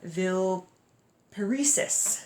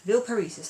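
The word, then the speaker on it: Villeparisis: the salons of madame ville paresis ville paresis I'm going to pronounce her name that way so he gets into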